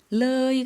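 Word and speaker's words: เลย: เ ล ย 르이 같은 경우에는 마찬가지로 의와 어의 중간 모음이니까요.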